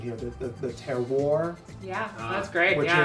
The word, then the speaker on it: terroir: grape that's used, and help me with my pronunciation here, the terroir, Yeah, that's great.